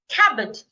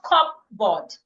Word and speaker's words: cupboard: Island not eand Silent cabbo not cupboard cabbo the p is silent no definitely not definitely